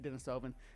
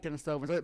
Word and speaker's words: Denisovan: can always say it Dennisovven? Dovenans doans some people say. I like Dennisovvens but both pronunciations as far as I can tell are acceptable.